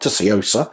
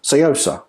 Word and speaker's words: Tsuyosa: of course the citizen Sosa range now it does have a t on it but apparently you don't say the T so it's not toosa it's Sosa but if there are